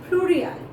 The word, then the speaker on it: pluriel: Singulars, we pronounce it like singulier, and plurals, we pronounce it as pluriel.